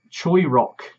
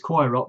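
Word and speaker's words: Choirock: also it's made by Choi Rock. Not, well, I refer to it as Koi Rock, but it's Choi Rock because my pronunciation has been corrected because I've been watching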